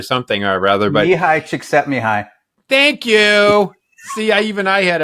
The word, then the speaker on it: Csikszentmihalyi: I think his name is Mihai Csikszentmihalyi or something or rather. But Mihai Csikszentmihalyi.